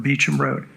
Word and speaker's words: Beauchamp: had to go down beecham road which is really beauchamp road to but pronounced speech and because a family by the name of beecham lived off of that